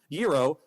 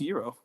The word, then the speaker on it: gyro: with Mark Beeks and Gyro, not Gyro, Gear Loose, doing a rivalry. Why is this the hill you're choosing to die on? I'm Greek. That's literally how you pronounce Euro.